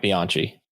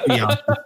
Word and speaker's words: Bianchi: He does not deserve to have his name pronounced correctly. Yeah, exactly. Bianchi. Yeah. I've always called him Bianchi, and I'm going to continue to call him Bianchi.